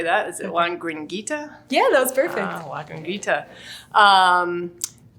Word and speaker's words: La Gringuita: speak today um and I'm probably going to butcher the name of your company so I may let you say that is it Juan gringuita yeah that was perfect um you know but